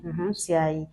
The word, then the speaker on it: Ntiaï: J'espère que je prononce bien. Oui, c'est bien. Ntiaï.